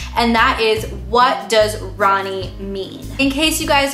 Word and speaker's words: Rani: spelled r a ni I but it is pronounced Ronnie now a lot of the information I'm going